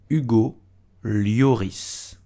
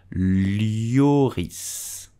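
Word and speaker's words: Lloris: we will simply say you go lioris you noticed that leoris have a Double L at the end so you have to pronounce it leoris did you know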